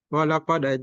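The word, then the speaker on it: ولقد: Jadi bacanya dipantulkan. Walaqad, walaqad dipantulkan. Nama sifat hurufnya qalqalah.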